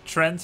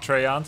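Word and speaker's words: Treant: Actually, he pronounces it correctly. Trent is how he pronounces it. Destroyed. In case you were wondering if it's like Treyant, I often mispronounce it. I said Treyant, but since it's Trent.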